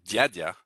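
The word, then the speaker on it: дядя: but if you say the word yadia uncle well this d is softer as opposed to dada sometimes it's easy to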